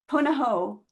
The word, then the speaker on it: Punahou: Born and raised in Honolulu, of Hawaiian, Chinese, and Norwegian descent, Tori graduated from Punahou. Did I say it right, Tori? Punahou. Punahou Mm-hmm.